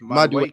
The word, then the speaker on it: Madueke: It's Madueke.